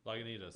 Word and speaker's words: Lagunitas: into us how do you say that one Lagunitas Lagunitas yeah yeah I can't say anything fancy